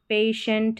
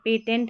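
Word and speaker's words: patient: education यहां पर देखिए पेशेंट है पेटेंट नहीं पढ़ेंगे इनिशियल है एसेंशियल है अब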